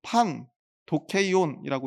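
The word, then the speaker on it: πανδοχεῖον: 여기서 주막으로 번역한 단어는 판 도케이온이라고 읽는 그런 단어입니다.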